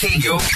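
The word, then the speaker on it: CADIO: It's pronounced KDU.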